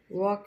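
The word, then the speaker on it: walk: silent है है ना वॉक में एल साइलेंट है अब हम आइए यहां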